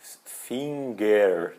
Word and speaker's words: Finger: tem ali um n Finger né só que em alemão essa pronúncia vai o g não aparece tem uma pequena e